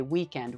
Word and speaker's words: weekend: The way we say weekend with the American accent, okay? The first syllable is stressed. It's one word, two syllables, but in the American accent, this is the stronger syllable, the weekend.